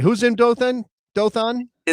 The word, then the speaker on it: Dothan: So our second uh dot to add to the map is Lucha and he would like the dot put in Dothan, Alabama.